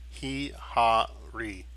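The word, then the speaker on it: Hihari: But just in case, just so you know that when you are pronouncing it, it should sound like you are saying the word safari, okay, but obviously with an H, okay.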